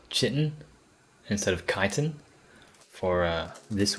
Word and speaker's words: chitin: Anyway, I used to call that chitin, but it's pronounced chitin.